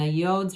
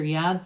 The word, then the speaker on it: yod: The yods or yads of the tarot, either pronunciation we can go with, come raining down, overflowing, new doors open for you.